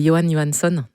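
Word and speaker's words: Jóhann Jóhannsson: Alors, je te laisse prononcer euh comment ça se prononce parce que voilà, je suis pas très douée. Ouais. C'est Johann Johanson.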